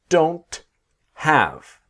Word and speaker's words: don't: negative, I, we, they don't have. Okay. What I want to show you in this module is the T is silent. I don't have I don't have time.